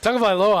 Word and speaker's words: Tagovailoa: Tagovailoa, I can say.